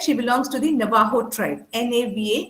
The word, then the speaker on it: Navajo: She's, as I said, she belongs to the Navajo tribe, Navajo, it's pronounced Navajo.